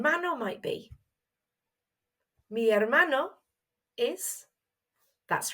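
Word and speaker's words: hermano: have noticed there that in Spanish we don't pronounce our H's so it's written but we don't say it let's try it again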